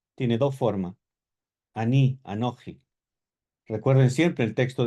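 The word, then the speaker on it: אני: Aní, anoji, tiene dos formas. Aní, anoi, recuerden siempre el texto de Amó, ya lo navi anoji, no profeta yo, ¿cierto?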